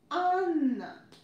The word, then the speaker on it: Анна: But in Russian it's written with double N, and we make N sound a bit longer.